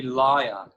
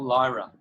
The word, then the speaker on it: Lyra: were gifted this ability it's actually it's actually liar it's not Lyra oh excuse me excuse